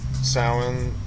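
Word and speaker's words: Samhain: um pronounced salin and spelled sam hane in the Celtic languages.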